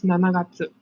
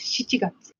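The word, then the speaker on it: 七月: Remember they don't use Nanagatsu. They use Shichigatsu.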